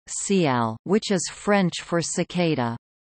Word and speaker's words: CIGALE: The name CIGALE, French pronunciation, CIAL, which is French for cicada, originates from the